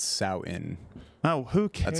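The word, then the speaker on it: Samhain: admonished uh by the edit Bay it's not Sam Hayne it's souten oh who cares that's how you pronounce it but it's spelled Sam hey yeah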